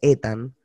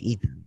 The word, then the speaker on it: Ethan: Hay mucha gente que cree que se dice Ethan, porque obviamente la E, lo dicen como la E, pero claro, Realmente es Ethan. Ethan, o sea, lo latino, Ethan.